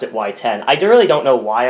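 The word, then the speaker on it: WY10: Actually, it was spelled W Y Ten, like Whiten as some would pronounce it, but I I always pronounced it Y10.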